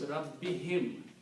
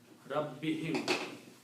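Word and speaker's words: رَبِّهِم: For easy pronunciation, we pronounce this as him also. So it becomes Rabbihim, easy to say. Rabbihim.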